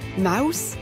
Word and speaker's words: Maus: Mouse m a U S. Cela veut dire souris en allemand. En anglais, même si cela s'écrit différemment. Souris se prononce aussi mouse.